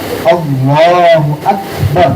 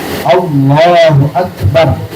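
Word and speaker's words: الله أكبر: itu dilatih ya Terus Yang benar gimana Takbiratul Ihram Allahu akbar nah gitu ya Allahu akbar bnya enggak dipanjangin alifnya enggak dipanjangin ya Nah kemudian kafnya sempurna diucapkan dengan huruf Kaf Allahu akbar kemudian Alfatihah tadi ada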